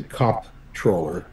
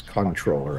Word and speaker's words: comptroller: Of course, some people use that word and they say comptroller, but that's not how it's pronounced. It's controller, actually.